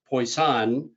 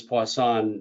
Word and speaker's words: Poisson: presentation as poisson but i've also heard people say pois poisson and and maybe some people might say poison because they just don't want to have anything to do with it but i naturally pronounce this poisson um but however you